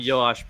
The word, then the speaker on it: Joash: Hebrew versions began with a y sound. Okay. So Jehoiada. Yes. All right. So Jehoiada got Yosh, 2 wives, and Yoash.